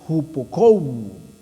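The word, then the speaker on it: ὑπακούω: Entonces, la palabra obedecer en el original se pronuncia hupokou.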